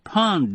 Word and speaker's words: pound: they used coar mesh Pond Nets that's spelled p o u n d I never found out why it was pronounced the way it was in the spring after